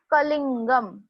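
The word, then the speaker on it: कलिङ्गम्: ड को ना हमें अनुस्वार जैसे प्रोनाउंस करना है. अनुस्वार जैसे, जैसे हम बिंदी बोलते हैं ना, बिंदी हिंदी में, न का प्रोनाउंसिएशन वहां पे आना चाहिए. सो इट इज कलिंगम.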